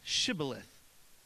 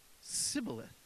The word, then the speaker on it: Shibboleth: And then they would say to them, "Say now, Shibboleth." And they would say, "Sibboleth," for they could not pronounce it correctly.